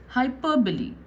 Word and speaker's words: hyperbole: Now, let's see the spelling of this word, but how is it pronounced? Hyperbole, hyperbole.